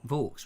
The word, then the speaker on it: Vaux: Mr. Vaux. Rhymes with Forks.